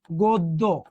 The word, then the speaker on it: গদ্য: পরিবর্তন হয় না আমরা কি পড়েছিলাম যেমন দেখতো গদ্য তাহলে এটা গ এখানে অ আছে অ এর পর জ ফলা থাকলে অটা কি হয় ও হয় এটার উচ্চারণ কি করছিলাম আমরা গদ্য রাইট কিন্তু যদি যুক্ত বর্ণ হয় যেমন দেখেন